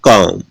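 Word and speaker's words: comb: अब देखिएगा इसमें भी क्या है, अम के बाद बी है, तो क्या बोलते हैं, कॉम।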